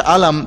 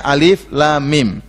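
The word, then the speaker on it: الم: Jangan baca alam, tapi bacanya alif lam mim.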